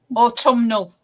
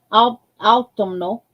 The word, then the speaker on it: autumnal: It's got an AL on the back of it, so I can't pronounce it. Autumnal. Autumnal.